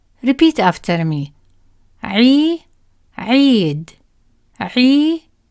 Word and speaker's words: عيد: The ya stretches the sound of عي longer, like a smile but held longer. Repeat after me. عي, عيد, عي, عيد.